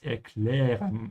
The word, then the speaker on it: erklären: Ich kann es erklären. I can explain. Make sure to pronounce the umlaut here. It's ä. Ä, erklären.